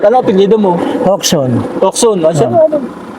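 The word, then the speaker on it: Jocson: Okson. Siya ano? J-O-C-S-O-N, Hoxon. Okson. JOC. J-O-C-S-O-N. Hoxon ang pronunciation.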